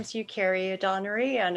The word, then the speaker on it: Eucharia: And hi, my name is Eucharia Donnery, and it's pronounced Eucharia.